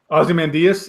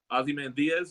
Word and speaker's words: Ozymandias: say named Ozzie Mendes Ozymandias yeah Ozymandias like Diaz yeah anyway so in